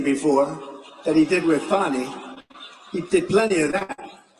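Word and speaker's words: Fani: legit they're Biden counts he worked with fonnie even though it's spelled Fanny f a n i fny how about that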